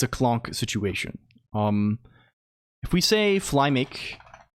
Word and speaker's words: Colonq: Um the uh no the the the uh like people people call me clonk mostly like like the sound like anamanopia of getting hit in the head or something.